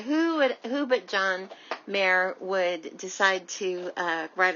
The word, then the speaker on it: Mayer: and type in john mayer rare it's easy to remember because it rhymes john mayer r-a-r-e and you will find